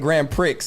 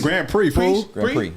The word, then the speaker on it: Grand Prix: what no we just because you called it Grand Pricks and I've never oh no Grand PR Grand Prix Grand call Grand P off